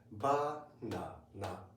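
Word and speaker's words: バナナ: Of course, with Japanese accent, in the Japanese way. Okay, we pronounce it banana, banana.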